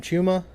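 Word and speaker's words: Chuma: Okeke how do you say his first name chumma yeah I mean he he was great for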